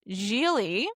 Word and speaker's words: Gigli: have a movie which I now know is pronounced Giley.